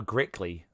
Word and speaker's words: Grickley: So it's so next to, I'll say it properly. So this is a Grickley, which we're trying to say, but obviously with the accent it's hard.